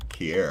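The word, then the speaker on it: Kiari: Offset has released a new album Kier. That's the name of it right. Jay, you are a tweaked. I know it's called Kier. I just want to make sure I'm pronouncing that right.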